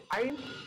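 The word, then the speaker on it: ع: এই যে আইন, এটাকে একটু কষ্ট করে উচ্চারণ করতে হয়।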